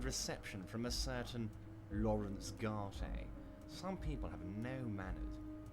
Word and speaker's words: Garte: And he's called Garte, is he? I thought it was called Gart. I've been pronouncing it wrong all this time.